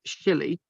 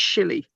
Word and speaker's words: Sully: In the present day, the country in the present day, the country people pronounce the name Shilly. I've run out of space. They refer to it as Shilly, right?